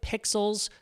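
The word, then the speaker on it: Pexels: favorites let's start with pixels kind of like pixels but spelt with an e this is one of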